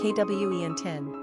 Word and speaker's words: Quintin: Pronunciation, Quentin.